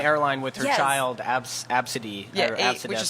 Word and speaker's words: Abcde: child, Absidy. Yeah, or which Absidef. is spelled ABCDE.